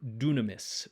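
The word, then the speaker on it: δύναμις: sound tau and then upsilon which makes an u sound now often times when you have a greek word that has an upsilon in it it comes over into english as a y like the word dynamite in greek that actually comes from the word for power dunamis dunamis but we'll talk more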